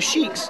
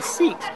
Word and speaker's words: Sikh: said who are The Sheiks who are the Shreks oh wait wait we pronouncing it wrong it's the siks and who are they